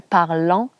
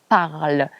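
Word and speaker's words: parlent: et elle au pluriel, ça s'écrit ENT à la fin, mais ça ne se prononce pas en. On ne dit pas il parlant parce que c'est ENT, on dit il parle.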